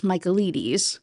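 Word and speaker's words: Michaelides: The book we're talking about is The Silent Patient by Alex Melites, I believe, is how you say his last name.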